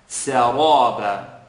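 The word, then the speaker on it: سرابا: Now you're going to be taught, don't move your lips when pronouncing the letter ra. That is true. But I want you to put emphasis now on pronouncing the ra heavy. Saraba. And it's not so much about the shape of your lips as much as it is the air that you're controlling in the mouth.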